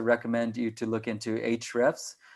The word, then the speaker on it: Ahrefs: i would also recommend you to look into hrefs it's pronounced hrefs but there's a in front of it it's